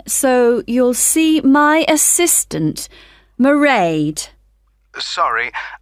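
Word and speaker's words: Mairead: you'll see my assistant marade sorry how do you spell that it's m a i r e a d marade okay got that it's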